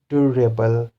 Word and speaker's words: durable: the suffix is able, so the syllable before this is dur. So durable, durable, durable, financial, financial, musician, scenery, terrible, characteristic, characteristic, classification, classification.